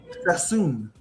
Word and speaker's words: Sassoon: Sass, this is how I say his name, Sassoon was importing opium to China and